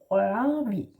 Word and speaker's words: Rørvig: No G, it's silent, yeah? Rørvig.